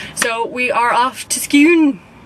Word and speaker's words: Scone: we are off to skew spelt scone but pronounced skew so we're off to